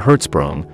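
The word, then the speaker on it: Hertzsprung: gets smaller Danish astronomer edner herzsprung pronounced in herzsprung made the initial discovery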